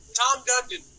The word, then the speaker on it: Tom Dundon: his first name, but Dundon, or however you pronounce it. What is it? Tom Dundon.